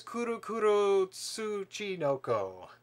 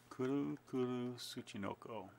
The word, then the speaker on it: Kuru Kuru Tsuchinoko: And the first one up is Kuru Kuru Tsuchinoko. It is a puzzle game. Kuru Kuru Tsuchinoko. Yep. I'm pretty sure that's how you pronounce it.